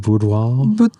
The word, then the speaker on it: boudoir: Boudoir.